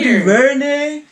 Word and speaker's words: DuVernay: Rhimes, Ava DuVernay.